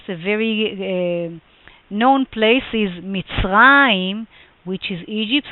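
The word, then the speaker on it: מצרים: But just a very known place is Mitzrayim, which is Egypt, so you can clearly hear the sound of ayin at the end, or Mesopotamia, which is in Hebrew Naharaim.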